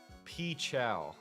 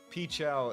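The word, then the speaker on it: PCHAL: Pchow is the biggest Nuzlocke streamer. It's spelled P C H A L. Um, he used to be called Pokemon Challenges and he simplified his name to Pichchow and he's definitely the biggest Nuzlock streamer.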